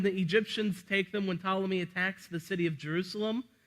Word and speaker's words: Ptolemy: And in the south, you have the Ptolemy the First. It starts with a P, but the P is silent, like pterodactyl, just so we know.